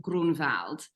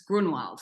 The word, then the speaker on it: Grunwald: And when my grandfather moved here, it had a umlaut above the U, so it was yeah. pronounced Grunwald. And then he got rid of the umlaut and it's Grunwald, which you pronounce perfectly.